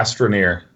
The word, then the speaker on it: Astroneer: Yeah, Astroneer.